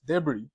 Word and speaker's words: debris: then this one de debris it's not deis debris and fracka fracka so you have the S